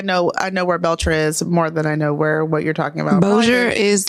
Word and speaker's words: Bossier: been But up Bossier, there. It's spelled fucked up.